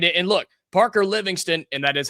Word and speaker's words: Livingstone: And look, Parker Livingston, and that is how you pronounce it, by the way, he is leaving Texas.